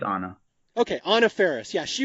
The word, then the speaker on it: Anna: like it's like Anna how do you pronounce her first name I always say it wrong I'm not 100% sure but I think it's Anna okay Anna Ferris yeah